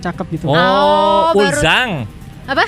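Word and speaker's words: 얼짱: Oh, Oh, baru- Ulzang. Apa? Ulzang atau Itu bacanya Olzang. Ulzang. Tulisannya Oljang, Uljang memang.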